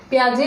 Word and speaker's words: Piaget: देखिए पियाजे, ये पियाजे की स्पेलिंग है PIAGET, इसमें टी जो है वो साइलेंट है।